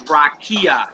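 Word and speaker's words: רָקִיעַ: The next one is rakia. It's stressed on ki.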